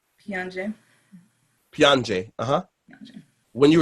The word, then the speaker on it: Piange: Pronounce the word Piange. Piange.